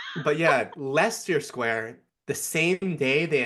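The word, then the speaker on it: Leicester: And then Lego says, "Hey, we're going to do this crazy reveal event at Lancaster Square." Wait, is that pronounced right? Lancaster Square. No, it's Lester Square.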